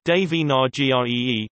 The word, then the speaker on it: Devanagari: Devanagari, Devanagari, Devanagari IAST, Devanagari, Sanskrit pronunciation, Dnai, also called Nagari, Nagari, Nagari is